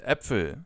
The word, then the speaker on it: Äpfel: When it comes to the pronunciation of this letter, just think of the English term bat. And now use the same pronunciation as in the Ä from bat and use it for Äpfel, for example.